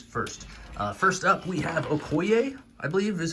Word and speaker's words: Okoye: the main figures first first up we have Okoye I believe is how you say it uh